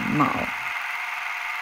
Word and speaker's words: 昴: to pronounce this word A lot of people might think ang but the word is MAO The Pleiades in ancient